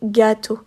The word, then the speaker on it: gâteau: des régions en France, mais en Belgique, on continue un peu à accentuer. Donc c'est-à-dire qu'on va juste prononcer de façon un peu plus forte cet accent, un peu plus longue. Par exemple, dans le mot gâteau, les Belges vont plus avoir tendance à dire gâteau.